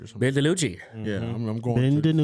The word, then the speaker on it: DiNucci: I don't know how you say his name right, Danucci or something. Ben DiNucci.